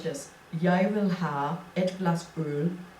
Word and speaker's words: jeg: you say something like it's jeg, but it's spelled J-E-G. That doesn't sound like yai in our language.